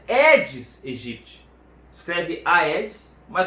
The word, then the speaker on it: Aedes aegypti: No latim, esse AE tem som de E.